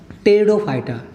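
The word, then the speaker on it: Pteridophyta: दूसरा है हमारा ब्रायोफाइटा और तीसरा है टेरिडोफाइटा। टेरिडोफाइटा की स्पेलिंग पी से शुरू होती है, इसमें पी साइलेंट होता है।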